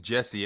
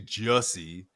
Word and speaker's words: Jussie: Um, but we're all here calling him Jesse. At least I'm calling him Jesse, but it's actually Jessie like rhymes with hussy, you know.